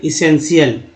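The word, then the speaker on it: essential: यहाँ देखिए CL, ठीक है, TI से स यहाँ उच्चारण है, शी, और AL को अल बोलते ही है, शीयल। इसका भी है जैसे इसेंशियल, ठीक है, इसेंशियल।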